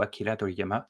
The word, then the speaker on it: Toriyama: le décès de Toriyama alors Akira Toriyama ou Akira Toriyama si on veut prononcer le mieux possible en japonais je te laisserai gens